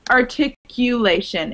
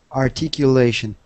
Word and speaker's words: articulation: And then it's articulation. It sounds like the word you in the middle. Articulation.